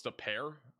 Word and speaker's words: De Pere: Oh, it's De Pere.